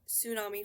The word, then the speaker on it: tsunami: We drop the t at the beginning and we pronounce it with an s instead of a t and an s.